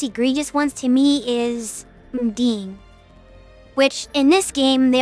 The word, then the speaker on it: Undine: Undine is the official pronunciation according to Merriam.